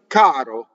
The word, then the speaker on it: caro: This R is between two vowels. So R's that are between two vowels flip, and R's that touch consonants will roll.